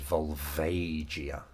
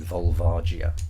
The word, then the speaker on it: Volvagia: out thought I said volvagia which isn't yeah which which is not correct I was more focused on pronouncing the G as a j rather than the vowels so I sort of